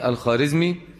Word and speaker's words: الخوارزمي: مع جلال الدين الخارزمي، والخارزمي تنطق بالواو الخوارزمي، ولكن هذه الواو تسمى في الفارسية بالواو المعدولة فلا تنطق الخارزمي ولكنها تكتب بالإيه؟ بالواو الخوارزمي. الذي حدث أن جنجز خان لاحق جلال الدين الخارزمي وأنهكه في معاركه ودمر